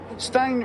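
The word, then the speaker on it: Stijn: Stein Raceboy, I think that's how you pronounce that, is it? S-T-I-J-N? Yes. Stein Raceboy.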